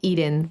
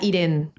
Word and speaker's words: Irene: de tu nombre y ahora que ya te presentaste sé que es Irene, porque yo pronunciaba Irene. Sí, Es Irene.